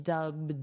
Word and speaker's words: dubbed: Notice the pronunciation, dubbed, d d So, this ED is a very soft d, dubbed, d dubbed.